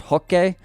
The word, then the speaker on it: Roque: Also, for everyone annoyed at me, I know it's pronounced Hokke. It's just so distracting because no one in the English-speaking world pronounces it that way that I think it actually distracts people from the video, so I don't say it like that.